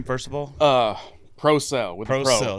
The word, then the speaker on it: Procell: first of all uh proell with proell that's what I figure proell like batteries yes yeah not a